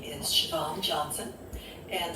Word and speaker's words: Siobhan: Well, my name is Siobhan Johnson, and the Siobhan is not spelled like it sounds.